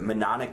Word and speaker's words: mnemonic: Like, I never know how to pronounce this word, but mnemonic device. I think I actually said mnemonic device. Mnemonic? Yeah. So the M in front of the N is silent?